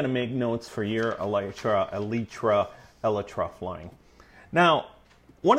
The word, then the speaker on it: Elytra: without dying now you heard me right it's elra not elytra not elyra elra and that is the correct pronunciation look it up but anyhow in this